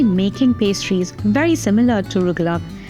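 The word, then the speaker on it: rugelach: Rugluck, sometimes pronounced rugalak, comes from the Yiddish word for little twists or little corners.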